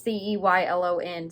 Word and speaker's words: Ceylon: Does this have a, don't know how to pronounce that word. Ceylon. It's Ceylon, cinnamon stick, vanilla, and spiced sugar.